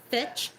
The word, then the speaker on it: Fitch: Last name is Fitch, rhymes with bitch.